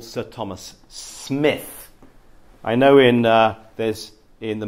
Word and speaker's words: Smith: Spelt with an I, but we probably pronounce his name Smith because on the print, it actually says Smith, M-I-T-H, S-M-I-T-H. But also the family writer, and the family still existed there, they call it writer this, but they pronounce it Smith.